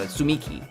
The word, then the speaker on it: Tsumiki: Did she pronounce the T? I don't think so. Sumiki.